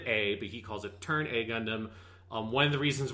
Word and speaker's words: Turn A Gundam: v gundam so he's decided well so it's pronounced turn a gundam and to make sure that everyone knows that